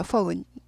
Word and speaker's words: phone: PH, phone, phone이죠. phone. 전화기죠. 전화나 전화기. F 발음이 나죠. phone, OU 발음이에요. O 아니고 OU. 그래서 phone, phone 아니고 폰 아니고 phone 아니고 phone, OU 발음입니다.